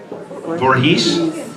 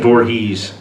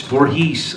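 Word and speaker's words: Voorhees: Ronnie U was always yelling at me for mispronouncing Jason Borhe. Is it Vorhees or Vorhees? Vorhees. Okay. Then I kept saying Borhees. And then he would go cut and I go what is it? It's Vorhees.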